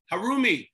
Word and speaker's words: Harumi: How do you say it? Harumi. Harumi. Mm-hmm. Harumi. Yes, you said it right.